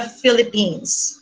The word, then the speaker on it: Philippines: and Technology in the Philippines. All right. So I would like to reiterate on the pronunciation of my country. It's Philippines, okay, with an S.